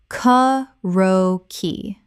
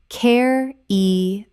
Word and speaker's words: karaoke: Kah-ro-key. Correct pronunciation. Care-e-o-key. Four syllables. This Japanese word has four clear syllables, not three.